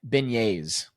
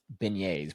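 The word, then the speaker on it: beignets: without looking it up they're beignes beignes but it's spelled b i g NE TS I would not have pronounced it like that uh a type of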